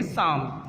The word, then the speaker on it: Psalm: बेटा यहाँ पे ये वर्ड जो है साम, ये स्टार्ट तो पी से होता है, लेकिन यहाँ पर पी साइलेंट है, इसलिए इसको हम पढ़ेंगे साम।